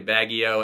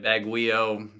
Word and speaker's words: Baguio: a baguette so like I Googled how to pronounce Baggio and I learned that it's actually Baggio in my head I was calling it Baguio I don't know I don't know what I